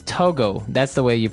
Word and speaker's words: Togo: Okay, so it's Togo. That's the way you pronounce it. Because if you look at it, I would say to go. Right, but it's not to go, it's Togo.